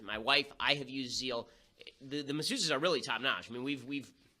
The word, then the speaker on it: Zeel: I think I'm going to get her a Zeal massage.